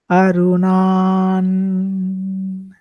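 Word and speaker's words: अरुणां: So here today, we will learn to recite verse 2, which is Arunan. So it is pronounced as, the ending is with a na, with a sound coming like na.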